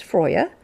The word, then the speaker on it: Freya: Friday now let's add freya's energy into this too frea and I know the true Norse pronunciation is Freya but I like to say Freya so Freya is the